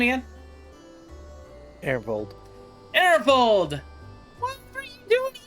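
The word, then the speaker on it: Arenvald: Ernvold.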